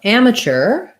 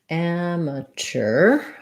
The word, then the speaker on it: amateur: and mature um so amateur amateur um in american english we say amateur and mature very in a very similar way in um just a